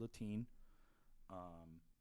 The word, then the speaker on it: Lattin: They mispronounced David Lattin's name. It's David Latine.